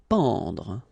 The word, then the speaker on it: pendre: Pendre. Okay, so nasal here, en, en. Pendre, pendre.